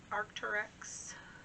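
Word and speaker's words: Arc'teryx: for a while uh next was an art arcturex that's how you say it dress um it's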